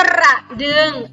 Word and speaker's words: กระดึง: อะ กระ โอะ อุ กอ ดึง อ่าน ว่า กระดึง อ่าน ว่า กระดึง สัก ที่ ร้าน ก็ รอ